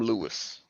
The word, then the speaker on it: Louis: So it's actually pronounced Louis. Louis. But a lot of people call him Lewis. Okay. But my grandpa said official pronunciation was Louis.